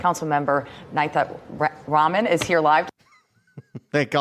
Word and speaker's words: Nithya Raman: And the second thing we learned today is how to properly pronounce the name of the LA City Council person for District 4. Councilmember Nithya Raman is here live.